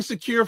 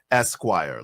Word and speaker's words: Esquire: Vibe, the pronunciation is Esquire like the magazine.